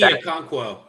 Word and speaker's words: Okonkwo: I think it's Okonkwo, if I'm not mistaken. Yes. Chigi Okonkwo.